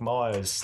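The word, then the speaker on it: Magrs: is like yeah Paul Mars thanks for writing such a great story it's like oh so it's pronounced like Mars like Mar got it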